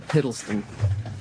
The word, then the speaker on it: Hiddleston: How do you pronounce his name? Hiddleston? Hiddleston.